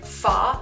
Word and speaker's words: pho: spicy you can also give foie a go it's spelled pho and that is a